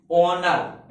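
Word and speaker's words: honour: अब हम यहां से पढ़ते हैं, एस के बाद वो आ जाए तो देखो ऑनर, ऐसा पढ़ते हैं। क्या आता? ऑनर। हाँ, एस साइलेंट है यहाँ पर तो क्या पढ़ते? ऑनर।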